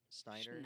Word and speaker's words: Schneider: productive company called how do you say his last name? Snyder. Schneider. Snyder's Bakery.